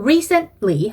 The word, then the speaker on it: recently: recently 아니고 recently 하고 T랑 L 사이에서 딱 끊는 느낌. recently 요거를 따로 발음 연습을 해보세요. recent 따로 해보시고 ly 따로 하신 다음에 나중에 붙여주는 거죠. recently 이런 식으로. 그래서 틀리 발음이 나지 않게 해주셔야 됩니다.